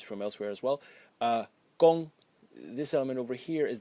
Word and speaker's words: 工: The left element over here is pronounced kong and it means work.